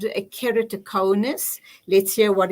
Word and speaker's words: keratoconus: I'm good, but I am suffering a bit from a condition called keratoconus, which is putting how's it me spelled? How's it pronounced?